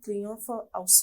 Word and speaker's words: Triomphe House: Alors, tu es fondatrice de la société Triomphe House. J'espère que je prononce bien.